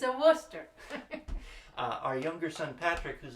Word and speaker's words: Worcester: and Worcester wost er pronounced Worcester not rooster it's not a rooster it's a Worcester our younger son Patrick